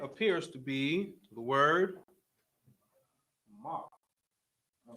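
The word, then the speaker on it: מה: right okay but here Ma and ha is pronounced ma as in why yes question um looking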